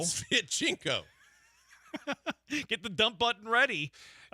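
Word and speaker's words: Sviatchenko: Former Celtic and current Dynamo defender Eric Svitchenko. Svitchenko.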